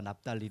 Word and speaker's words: 납달리: 자, 발음을 조심하셔야 돼. 스론 땅과 납달리 땅 여기가 뭘 당했다?